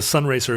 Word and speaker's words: Sunraycer: But the problem with the Sun Racer is it's spelled SUNRAYCER. So it's Ray. Sun rays, sir. I get it now. It's pretty bad. It starts with Sun Ra. That's nice. Sun Ra, the Sun Ra yeaser.